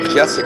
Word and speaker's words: Jessup: Jessup, excuse me. Jessup is how to say it.